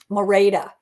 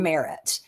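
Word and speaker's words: Merete: Mora, that's how you say her name. Mora, not Merit.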